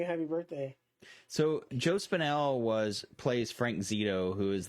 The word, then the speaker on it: Spinell: Yeah, he's Joe Spinelli.